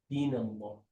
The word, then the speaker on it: دين الله: The only time you want to do the laddu is when there's a dhamma or a fatha. But for a kasra, there's the lam is without the laddu.